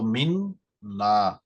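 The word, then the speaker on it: মিন্না: তো মিন না দেখেন যে নুনের উপর একটি তাশদিদ আছে। তাজদিদের অর্থ হলো যে এই যে নুন সেটি ডাবল উচ্চারণ হবে বা দুটি নুন আছে এখানে।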